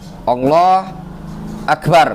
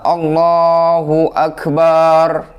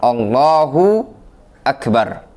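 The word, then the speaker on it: الله أكبر: mungkin itu Hai intinya beberapa kesalahan dalam pengucapan lafdzul jalalah tadi yang pertama dia ucap Allah huakbar atau dia menyatakan allohu akbar allohu akbar atau dia mengatakan Allohuakbar atau dia menyatakan Allah akbar Nesya akan share ada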